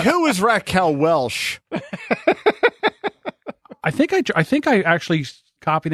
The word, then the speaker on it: Welch: like who was Raquel Welch? I think I actually copied and pasted right from the Okay, thing. well then if that's true, then I apologize. It's Raquel Welch, not Welsh.